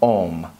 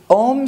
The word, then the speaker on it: AUM: palatal sound and so it's more like a mm with the lips open that an unsound and